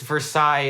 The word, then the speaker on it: Versailles: Now, Bellefontaine and Versailles have no right to be pronounced like that. Nope. To those who don't know, it's Versailles and Bellefontaine.